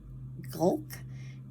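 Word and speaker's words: Gohlke: The Medallion by Kathy I pronounce his name gulk g-o-h-l-k-e um I found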